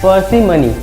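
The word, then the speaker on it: parsimony: दोस्तों एक और वर्ड लेते हैं, पर्सिमनी। इसको हम प्रोनाउंसिएट करते हैं पार्सिमनी।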